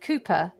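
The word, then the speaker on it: Cowper: um jane's favorite poet was called cooper it's spelt calper just in case you're confused um i thought i'd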